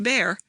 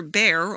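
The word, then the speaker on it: Bhaer: at his horrid name it isn't pronounced either bear or beer as people will say it but something between the two as only germans can give it i'm glad you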